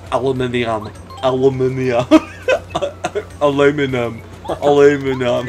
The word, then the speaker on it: aluminum: Aluminum. They say aluminum. Aluminium. Yeah. Which technically is also correct.